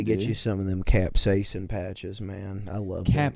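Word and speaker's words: capsaicin: I think it's pronounced capsason.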